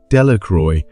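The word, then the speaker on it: Delacroix: Jones and Dicky Doric the villagers pronounced this name de Ro eventually made a great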